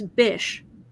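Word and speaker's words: Bysshe: it was interesting because his middle name is so unusual the b-y-s-se that I never knew how to say it and then I found out it's bish op Percy Bish Shelley and ever since then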